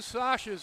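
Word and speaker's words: Švec: So there are 2 Sashes on Czechia. They are not brothers. And I know what the name is spelled, but I checked with the Czechia personnel, and SVEC is pronounced Sash.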